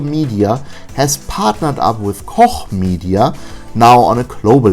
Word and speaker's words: Koch: to the fact that the correct pronunciation of Koch is Koch and not Coke or Cock or Cook. It's Koch, damn it!